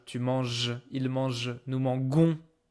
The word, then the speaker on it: mangeons: We add E so we can pronounce it nous mangeons. Okay. Don't try to make any kind of funny pronunciation here. I know it looks strange, but this is just jon.